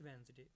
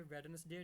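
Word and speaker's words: Wednesday: तो she will go to visit Shimla पहाड़ी इन Lahore next वेंसडे, बस इसकी प्रोनाउंसिएशन भी ठीक कर लें, ये वेडनेसडे नहीं होता, ये होता है वेंसडे।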